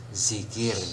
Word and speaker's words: zikir: Kemudian apalagi yang sering salah, zikir ya, bukan DZI ya, KIR, tapi cukup D-nya dihilangkan, hanya menjadi zikir ya, bukan zikir ya, tapi zikir.